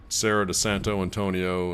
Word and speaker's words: Serra de Santo Antonio: her hometown this is Sarah de Santo Antonio and then you're supposed to roll your R and Sarah pretending like pretend like